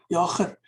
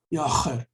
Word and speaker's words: Jager: It's called Jager. I have brilliant friends in America and other countries, but they can't pronounce it. It's like cleaning your throat. Jager.